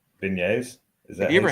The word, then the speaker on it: beignet: Beignets. It sounds like Beignets. beignets. It's a soft G.